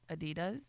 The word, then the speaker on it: Adidas: Adidas Adidas Adidas not Adidas Adidas Adidas those German shoes uhuh uh my